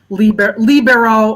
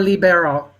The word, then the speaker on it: libero: it again please yes libero oh okay also i've also heard it pronounced libero or libero okay okay i i